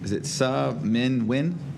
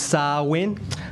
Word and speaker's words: Sa Win: Is it Sa Min Win? Okay. All right. Apologies for the mispronunciation. Yes, all good. I almost got it. It's pronounced Sa.